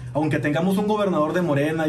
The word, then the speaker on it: Morena: Se dice Morena, que es vota todo Morena.